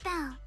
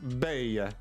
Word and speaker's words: Belle: This is my friend Belle, one of the managers of the resort. No, no, no. Please. It's pronounced ba. You may call me ba.